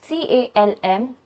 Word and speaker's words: calm: and CALM, calm, इसमें L silent रहता है।